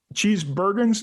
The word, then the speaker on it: Cheesebergens: and get to know more about the cheat cheese bergens is that how you pronounce it yeah yeah my last name is